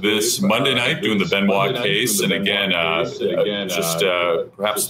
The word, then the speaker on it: Benoit: the horrible tragedy of Chris Benoit, or Benoit. And I like the way Jericho used to pronounce it, Chris Benoit.